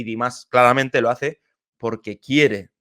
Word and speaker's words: Dimash: La primera es, creo que lo he comentado en otros vídeos de Dimas, pero qué bien pronuncio ya Dimas, que antes decía Dimas y tal.